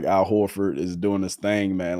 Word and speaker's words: Horford: Horford, that's how you say it.